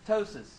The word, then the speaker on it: ptosis: Look for ptosis. I believe that P is silent.